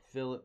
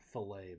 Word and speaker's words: fillet: It's not fillet, by the way. I know it's spelled fillet, but it's actually fillet.